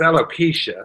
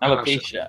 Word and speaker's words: alopecia: Well, it's alopecia, not alopecia.